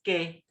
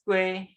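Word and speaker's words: 雞: So over here, in Penang, chicken, we call it ke, ke. However, in Singapore, they may call it as kueh and so on.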